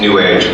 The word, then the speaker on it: New Age: Age writing, which is New Age pronounced rhyme with sewage.